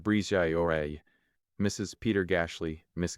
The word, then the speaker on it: Bridget: Patrick Oreille, pronounced Oreille, Miss Bridget, pronounced Brizay Oreille, Mrs.